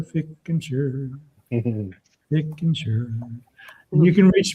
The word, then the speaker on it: Fickentscher: My name is Fickentscher, and and I'll tell you how to spell it. It's f i c k e n s c h e r, Fickentscher.